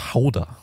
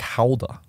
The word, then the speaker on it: Gouda: on a cracker and then uh and then gouda gouda is my my second i like soft cheeses i love those soft cheeses um apparently it's pronounced holder like halda that's how you say it but like i'm